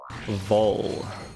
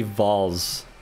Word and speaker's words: Voll: You pronounce it like you pronounce bowl. Vol.